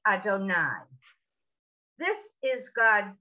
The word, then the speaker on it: Adonai: the two yards in actual prayer this is pronounced adonai this is god's name i'm doing it with